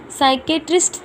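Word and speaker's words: psychiatrist: Doctor KD Kamble, वो क्या थे, इसमें पी साइलेंट है, साइकेट्रिस्ट थे वो।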